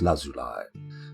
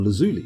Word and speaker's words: lazuli: hanging rings of lapis lazuli or lazuli depending on how you want to pronounce it but I like lousy lie it sounds slang nice ah let's go past